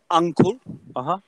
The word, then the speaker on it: uncle: So, one is with a U as an umbrella. Okay, yes, I know, but the pronunciation. Okay. I mean, uncle.